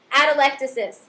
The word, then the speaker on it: atelectasis: doing it wrong so I looked it up and I was doing it wrong so I learned something from Gray's Anatomy ad elecis proper pronunciation there it means it literally